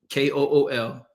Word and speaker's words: kuwl: It is phonetically pronounced KOOL, like the old cigarettes.